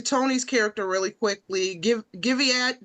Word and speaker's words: Guyviaud: character really quickly give giad did I say it right Gad Gad oh you could just call me Lord today